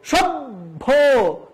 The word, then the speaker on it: সভ্য: মহাপ্রাণের অল্পপ্রাণ হচ্ছে বইজন্য আমরা প্রথমে হস যুক্ত বফলা ব্যবহার করব আর পরে মহাপ্রাভের সাথে ওকার যুক্ত করব সেজন্য আমরা উচ্চারণ করব সভ্য প্রথমে ব তার নিচে হস এবং পরে ভকারে ভো এই যে সভ্য এই যে